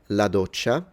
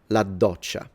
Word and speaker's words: doccia: In Italian, la doccia, but I would say la doccia. So I pronounce it like there are two Ds, la doccia.